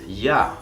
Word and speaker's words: Jahr: La J es una letra que se pronuncia como una E en español. Como por ejemplo, jetzt, ahora. O Junge, el joven. O ja, el año. Das Jahr, el año.